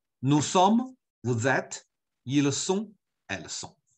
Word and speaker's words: sont: Vous êtes, ils sont, elles sont.